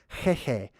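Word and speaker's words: Heihei: So that's why in Moana, this chicken was named Hehe, like chicken, but it's pronounced in a more ancient way, the original way, which is at the level of the throat, right? Hehe.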